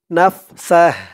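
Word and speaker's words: نَفْسَهُ: Scene দিয়ে হা ধরলে যেমন উচ্চারণ হয় এখানে তেমন উচ্চারণ হবে নাফসাহ ওয়ায়ুহাযযিরুকুমুল্লাহু নাফসাহ।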